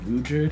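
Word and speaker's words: Ruijerd: abandoned by Eris, and I want to say Rugerd is the way you say his name.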